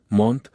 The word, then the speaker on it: Mont: Pronto Albania es reemplazado por Montenegro, y entonces se me impone que la sílaba mont, pronunciada mon, aparece en todos los nombres sustitutivos, salvo en el último.